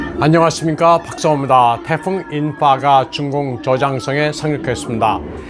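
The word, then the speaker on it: In-fa: 태풍 인파가 중공 저장성에 상륙했습니다. 인파는 맨더린으로 불꽃, 폭죽을 의미하는 yen화의 캔토니즈 발음입니다.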